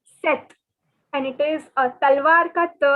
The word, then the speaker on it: sept: note that the p is silent in this word so instead of saying sept it is not sept it is set and it is a